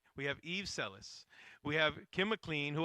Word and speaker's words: Selis: We have Eve Selis.